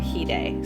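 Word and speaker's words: hide: singer there's there's two there's Hyde and heday so heday is dead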